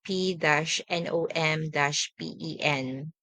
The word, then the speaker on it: Phnom Penh: Example, Bordeaux and University of Phnom Penh. So you have to spell it out like BOR-TOO. And for Phnom Penh, you have to spell it out P-NOM-PEN.